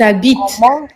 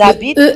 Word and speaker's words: habitent: Ils habitent ils habitent à la campagne. Il ils ne se prononcent pas.